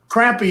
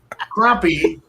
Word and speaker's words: crappie: know if they are pronounced crappie or crappie. Crappie is what I look like after a good night of playing pool with the boys next morning. Crappie is what the fish are.